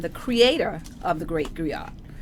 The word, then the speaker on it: Griot: And Miss Kara is an actress, producer, and the creator of The Great Griot. Or Griot, as you want to pronounce it. French or English, it don't matter.